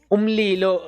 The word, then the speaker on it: umlilo: Anyway, umlilo means fire. And how you pronounce it, it's li lo. It's OOMLEE law.